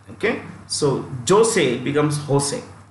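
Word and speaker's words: José: j o s e Jose in Spanish the J is pronounced with an H okay so Jose becomes Jose j o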